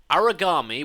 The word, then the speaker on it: Aragami: So, I would strongly recommend to anybody that actually wants to play that game, Origami, which is spelt Aragami.